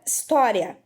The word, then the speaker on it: história: Para a gente verificar a posição da sílaba tônica, a gente precisa começar pela última sílaba. Olha só. Então, ria é a última sílaba. Mas ria é a sílaba mais forte? Não é. É verdade? E é bom você lembrar, quando a palavra estiver acentuada, você já sabe que a sílaba tônica é a que tem o acento. Então, já que tó está acentuada, observe, tó está na penúltima posição.